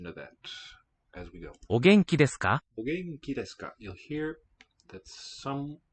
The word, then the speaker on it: お元気ですか: お元気ですかお元気ですか You'll hear that some syllables have a higher pitch, some a lower. お元気ですかお元気ですか From o to ge, those first two syllables in the sentence, there's a tonal upstep.